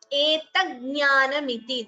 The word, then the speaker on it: एतज्ज्ञानमिति: Etaggnanamiti, that is how this word is pronounced.